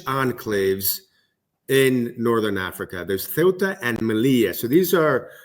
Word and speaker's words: Ceuta: It's not Ceuta, it's Ceuta. It's in Spanish, it's called Ceuta, and in Arabic, it's called Ceuta. So there's two different words.